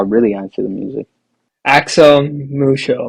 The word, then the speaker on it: Axel Muco: Axel Muco, am I saying it right? Axel Mucho, yes.